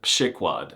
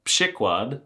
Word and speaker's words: przykład: A pronunciation that does not at all correspond to how it's written, przykład.